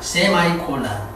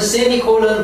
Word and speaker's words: semicolon: 세미콜론을 어떤 미국어는 세마이콜론이라고 합니다. 세마이콜론. 이 여기서 원어민은 세미콜론 그럽니다.